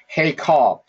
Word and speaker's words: heykal: Hey call. I should have pronounced it. That should have been the pronunciation. I apologize for that. Heykal.